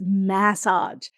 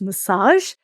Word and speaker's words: massage: I am from Australia and we pronounce we we just love to hang out on our vowels. So, we pronounce massage as massage. And I know that in the USA it's often pronounced as massage.